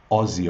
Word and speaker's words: Aussie: nas competições esportivas o o som desses dois s é o som de z de zebra Z de Bumba Então